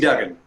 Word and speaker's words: Duggan: JC Duggan, is it pronounced correctly, John? It's JC Duggan.